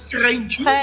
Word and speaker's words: Treintje: So Tell us briefly about the characters, like the young woman called Trinche. Yeah, Trinche. Yeah, who right? Trinche. Trinche, Is it Trinche, right? How to pronounce it? It's Treintje in Oh, Dutch.